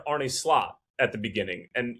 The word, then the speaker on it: Slot: you've you've butchered Arie Slot at the beginning and you called him slute like as if there were three O's in his name.